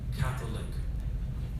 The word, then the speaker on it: Catholic: Catholic has 3 syllables over there. Catholic.